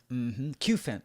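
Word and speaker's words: Cufant: How do you pronounce that? Kufent and Meltan on it. And it's a cute elephant, Kufent. Kufent, that's right.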